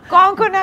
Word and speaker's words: Konkona: जी cocoa का cocoa तो पता का को कोंकोना का है actually. The easiest trick is you know king Kong ji, Hong Kong कि बहुत प्रोनाउंसिएशन ऊपर नीचे हो जाता है, सबसे नहीं होल्ड हो पाता।